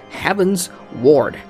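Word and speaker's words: Heavensward: got cause cogs and Chad says it's pronounced heavens ward thank you he says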